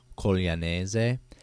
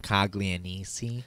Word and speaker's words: Coglianese: If you say my last name in Italian, like the Italian way to say it, it's Coglianese, and like the American way it's spelled is like Caglianisi.